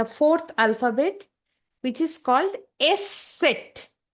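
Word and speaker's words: Eszett: उसको हम लोग बोलेंगे एस सेट. ओके, एंड लिखने की समय एस सेट का प्रोनाउंसिएशन डबल एस की तरह साउंड करेगा. While writing, the pronunciation of S set will be somewhat like double S.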